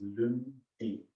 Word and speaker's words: lundi: It's Lundi.